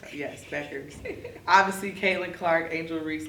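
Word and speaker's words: Bueckers: Yes, Beckers.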